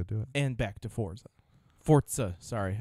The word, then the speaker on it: Forza: And back to Forza. Sorry, I keep pronouncing it wrong. Forza. That's true. It's like pizza, but Yeah.